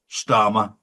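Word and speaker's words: Starmer: We're going to see a huge backlash against Kia Dharma and of course Stararma rhymes with karma.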